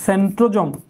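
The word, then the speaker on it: centrosome: পাঁচ নাম্বার হচ্ছে এদের সেন্ট্রোজোম আচ্ছা সেন্ট্রোজোম বলা যায় সেন্ট্রোজম বলা যায় আমেরিকারা এক ধরনের উচ্চারণ করে ব্রিটিশরা অন্য ধরনের উচ্চারণ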